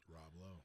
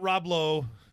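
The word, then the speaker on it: Lowe: Selby low from Australia Rob low not Robo the Angelic actor super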